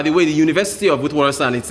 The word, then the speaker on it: Witwatersrand: Students at the University of Witwatersrand, I think that's the pronunciation, Witwatersrand, yes, in Johannesburg, they were prevented from registering for a new semester because they failed to secure state subsidies.